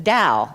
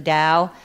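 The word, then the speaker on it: Tao: of which was the Dao. Anybody heard of the Dao? Yeah. It's spelled T AO.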